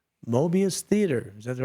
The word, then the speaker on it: Mobius: And 7:30 p.m., live from the shallow end of the gene pool, it's Mobius Theater.